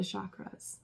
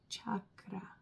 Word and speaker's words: chakra: So the energy centers, the chakras or chakra, that's how you pronounce it.